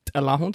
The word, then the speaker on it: Alahun: So the show's really going from my real name, which is Alahun, so it's pronounced with a noise.